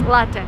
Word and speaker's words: latte: And don't say latte. This is like the worst thing I've ever heard. It's latte. Latte is Italian word. So, if you drink coffee, it's latte, not latte.